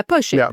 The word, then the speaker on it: Pošip: If I had a bit more of an accent, but yeah, Pochip.